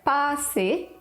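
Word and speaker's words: 巴士: When adapting words from English, Cantonese actually prefers just to find characters that sound like the English equivalent, like pa-si for bus or tik-si for taxi.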